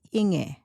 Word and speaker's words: Inge: Well, my name is pronounced Inge in German.